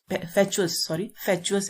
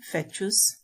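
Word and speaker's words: fatuous: डाफ्ट means मूर्ख, सिली और stupid, इनप्रूडेंट, फैचुअस है इसकी प्रोनाउंसिएशन, फैचुअस, गिडी।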